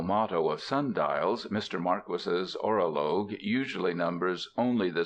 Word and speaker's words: Marquis: It is pronounced Marquis, not Marquee.